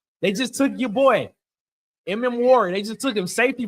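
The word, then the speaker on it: Emmanwori: Mm. Warry.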